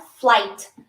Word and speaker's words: flight: nós vamos sempre falar flight tá não desse não deixa esse GH aqui te confundir eu vou até deixar ele de preto o GH não tem som Então você só vai pronunciar o flight tá my flight meu